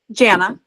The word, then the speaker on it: Jana: it Jana or Jana Jana Jan okay okay beautiful my whole life i' I've said it's like Jan banana okay I like the